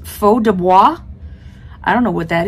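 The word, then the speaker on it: Feu de Bois: separate word b-o-i-s uh I'm assuming it's French so faux Dubois is how I would say it I have no idea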